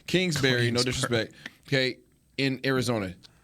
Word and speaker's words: Kingsbury: guess I'll make this comparison Clint was it cleansberg what's his name Kingsbury yeah I can't say his name Kingsbury no disrespect okay in Arizona both young coaches